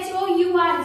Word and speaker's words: hour: देखिए यहाँ आ रहा है HOUR, जिसकी प्रोनाउंसिएशन होती है R, not har। Okay, H is silent in this।